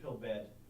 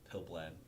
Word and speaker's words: Pilblad: get to Coach pill bed am I messing that up pilblad pill blad close enough so the L wasn't silent DL is a it's